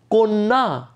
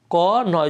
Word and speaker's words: কন্যা: দ্বিত্ব মানে দুবার উচ্চারণ হবে, তারান্ত হবে, এবং উচ্চারণটা কিন্তু হবে ও ও অ বা এ, এরকম কিছু হবে না।